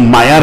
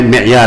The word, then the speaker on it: معیار: یہ معیار لفظ نہیں ہے, معیار ہے, میم کی کسرے کے ساتھ, آلے کا صیغہ ہے.